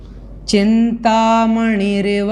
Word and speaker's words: चिंतामणिरिव: तो यहाँ पर देखें चिंतामणि रिव, इस प्रकार से इसको बोलना है, मणि रिव, इस प्रकार से।